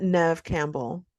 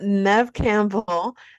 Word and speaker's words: Neve Campbell: And I mean, the Scream franchise, let us not forget that Neve Campbell, did I say her name right?